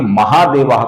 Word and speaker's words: महादेवो: उसी प्रकार महादेवा का जो विसर्ग है इसके आगे देवेशः का द आया हुआ है। इस कारण से महादेवाह का भी बन जाता है। महादेवो।